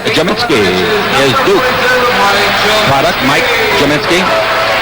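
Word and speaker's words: Gminski: first year from jamitzky is Du product Mike jinsky spelled g m i NSK k i pronounced j u m i n s k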